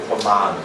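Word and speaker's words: Upamāna: O A, o segundo A é longo, Upamana.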